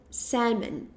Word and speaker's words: salmon: Então a gente fala salmon. Tá um pouco estranho. Salmon. Salmon. Salmon. Ok. Salmon. É isso. O L ele é completamente silencioso.